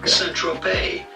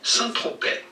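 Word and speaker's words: Saint-Tropez: english is definitely silent do not pronounce the zed or the z centro bay but in french it is normally pronounced santrope so i'm going to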